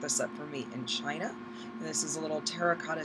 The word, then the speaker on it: Qin: tributes so in ancient China on the emperor Qin it's about qan but it's pronounced chin was buried with a